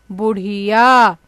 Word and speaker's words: बुढ़िया: मेरे साथ आप भी दोहराइए, बुढ़िया, है ना। जब ढ के नीचे हम एक छोटी सी बिंदी लगा देते हैं तो उसका उच्चारण हम कैसे करते हैं, हड़, ठीक है।